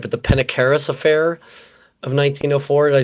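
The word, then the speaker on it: Perdicaris affair: to I'm not pronouncing it right but the Pedicaris affair of 1904. Did I say that right, sir? Pedicaris affair.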